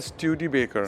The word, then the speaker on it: Studebaker: And how do I pronounce this? It is a Studebaker. Studebaker.